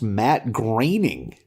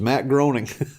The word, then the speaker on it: Matt Groening: One thing I learned is that it's pronounced Matt Groening. I had no idea. Oh, yeah, you didn't know that? Nope, thought it was Matt Groening.